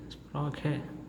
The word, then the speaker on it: Sprache: And the correct pronunciation will be sprache, because the words ending with letter E gives the sound of A, right?